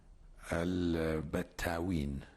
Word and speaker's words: Al Battaween: It was called Al Battaween. Al Battaween. INT: Can you spell it?